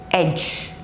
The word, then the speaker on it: edge: lodge lodge grudge grudge edge edge okay so when d comes with g e in the end of the word that time it is silent now d is also